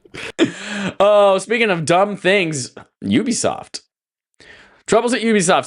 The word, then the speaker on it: Ubisoft: Assassin's Creed publisher Ubisoft, standing for Ubiquitous Software and therefore pronounced Ubisoft, has detailed a major